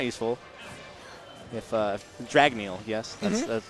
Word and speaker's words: Dragneel: If Dragneel, yes, that's the correct pronunciation.